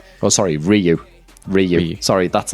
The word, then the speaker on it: Ryu: to Ryu and steal a Hadouken or something.